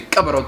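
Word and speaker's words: ቀበሮ: So like fox 10 would be cabaro 10.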